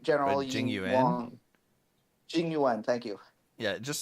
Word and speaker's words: Jing Yuan: I'm sorry, I don't know how to pronounce his name right. General Jing Yuan. Wang. Jing Yuan, thank you.